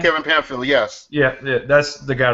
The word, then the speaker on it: Pamphile: From what I'm hearing, that Kevin Pamphile, is that how you pronounce his name? Kevin Pamphile, yes.